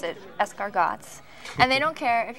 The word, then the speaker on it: escargots: You pronounce it escargots.